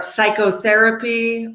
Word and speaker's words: psychotherapy: Like psychologist, we don't pronounce the P. Or psychotherapy or pterodactyl.